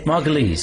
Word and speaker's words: Margolyes: Actually is Margal. Is that what it? Yes. Rhymes with fleas. Margales.